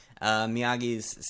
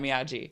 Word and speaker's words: Miyagi: He's like, no, it's Miyagi, not Miyagi.